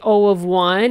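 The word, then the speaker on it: O(1): Now, as I said, you heard me say O of 1 and O of n. That's how you say it. O of, and then the value that's in brackets.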